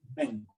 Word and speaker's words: assignment: assignment number Assignment. Try to pronounce the Assignment. last letter. There is a T there, right?